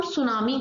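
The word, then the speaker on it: tsunami: अंदर तो इसको हम सुनामी कहते हैं और यहां पर हम इस टीकू प्राणों नहीं करते हैं इसलिए इसको सुनामी कहते हैं बट स्पेलिंग लिखोगे तो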